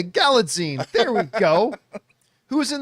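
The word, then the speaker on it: Galitzine: here the grammar man I think it's galine like magazine okay galine there we go who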